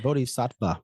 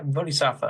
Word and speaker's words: Bodhisattva: Yeah, you but said it right, Bodhisattva, but you got it. Yeah. Yeah, Bodhisattva.